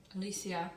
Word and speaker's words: Aletheia: I had a patron reach out to me and tell me how to pronounce that in the Greek way, and she terrible. Aletheia.